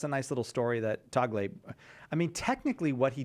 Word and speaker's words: Tagle: tell he tells the story of is it Tagle? Is that how you pronounce the guy from the Philippines? Yeah. So Tagle told the story of how when the last